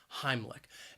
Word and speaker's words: Heimlich: syllable even though it's spelled with a c h it's not a ch sound it is more of a k k sound heimlich and maneuver has three